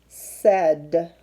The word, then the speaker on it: said: spells said said and when you say said you say the sound at the front and you say the sound at the end but what sound do you hear in the middle what is that a and I saying together and so this and I are making actually the e sound and again another reason